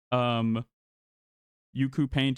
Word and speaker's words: UCU Paint: Yuku Paint is spelled UCU Paint, and it adds like